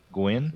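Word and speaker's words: Gwynne: Gwynn, I guess. Yeah. That's how you pronounce it.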